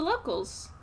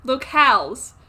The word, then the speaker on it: locales: the um of the locals locales locales sorry um they're not pronounced locals look uh local versus Locale there are two different things okay I was so